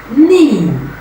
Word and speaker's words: knee: The letter K is often silent when it appears at the beginning of a word followed by the letter N. Example, noun, knee, knife. You can see the silent letter K, but it does not represent any sound in the pronunciation of the words I just mentioned.